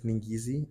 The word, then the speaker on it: Ngeze: is G G that's the African um pronunciation for my English folk it's ningi ningi and yeah um I'm